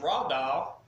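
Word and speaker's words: רָדָה: the word Dominion comes from the Hebrew word pronounced rod ah and it's defined by strong secret of Greek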